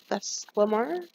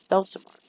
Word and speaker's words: Thelsamar: If not, I will head back to the inn in Theslamar? Thelsamar. I am not good with pronunciations of some of these towns. My brain likes to mix up my words, and it happens sometimes. So we're going to take